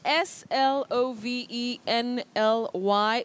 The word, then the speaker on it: slovenly: you've said s-l-o-v-e-n-l-y yeah letter o takes the mid central sound you don't say slovenly you say slovenly or slovenly slovenly slovenly not slovenly that is uh when